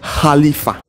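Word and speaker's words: خليفة: Le califat est un mot arabe qui se prononce khalifa.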